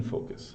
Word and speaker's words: focus: focus to being in focus. So this is how you pronounce it, focus.